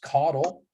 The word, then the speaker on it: Caudle: It's pronounced Caudle, but people mispronounce it pretty much every chance they get.